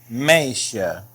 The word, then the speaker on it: meisje: Now this word is pronounced meisje. Meisje. Notice that the J here is quite a bit different than the one I said before. That's because it's part of the SJ blend.